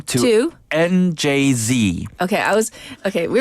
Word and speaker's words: NJZ: I did my research so it's njz not njz yes and announced its